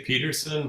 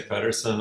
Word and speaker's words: Pederson: Usually we say Peterson, but a lot of people say Pedersen, and I'm really fine either way.